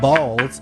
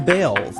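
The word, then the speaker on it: Baals: After all, the family did change the pronunciation of their last name from Balls to Bales.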